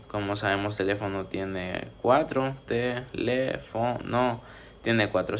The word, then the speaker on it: teléfono: Como sabemos, teléfono tiene cuatro, teléfono tiene cuatro sílabas, por eso es polisílaba. Además, la sílaba tónica es el le, porque se pronuncia con más fuerza.